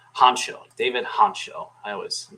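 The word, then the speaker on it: Hancko: clearly the the play they're telling me it's pronounced honcho David honcho I always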